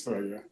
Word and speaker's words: Thragg: It's Thragg, yeah.